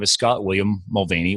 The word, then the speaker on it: Mulvaney: name is Scott William Mulvaney or if you're in Ireland it's pronounced mall Bonnie and I did not like go out and party I didn't go hit the st.